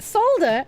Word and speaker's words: solder: It's spelled solder, but the L is silent.